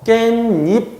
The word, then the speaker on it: 깻잎: 자, 이때 시옷은 그냥 발음될 수 없기 때문에 디귿, 니은으로 바뀌고요. 얘들이 비음화 현상을 일으켜서 깻잎 이렇게 발음이 되는데 표기할 때는 어떻게 하느냐? 여기 시옷을 살려줍니다. 그 이유는 뭐냐면 앞말에 닫힘이 없기 때문이에요.